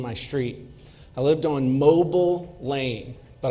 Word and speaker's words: Mobile: street I lived on mobile Lane but I pronounced It Mobile anytime I would tell somebody where I lived at we live at 25 mobile Lane like in Mobile Alabama not as in mobile let's kick the wheels